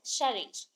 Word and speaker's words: Serres: Drew सियर, और बोल सकते हो सैरी। सैरी रॉन्ग हो जाएगा प्रोनाउंसिएशन में, शेयर इज the correct one, because SERRES है, शेरिज।